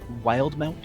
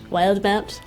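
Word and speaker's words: Wildemount: And it's pronounced Wildmount. Wildmount. Not Wildmount. Excuse me.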